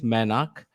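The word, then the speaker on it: Mainak: but yes my name is my name is manak it's it's m-a-i-n-a-k uh the only person who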